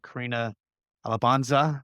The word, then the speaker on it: Carina Alabanza: So Carina Alabanza, she's a senior manager here, UX here at Reltio.